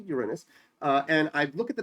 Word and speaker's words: Uranus: planet Uranus I know most people pronounce it Uranus but it's actually Uranus and I look at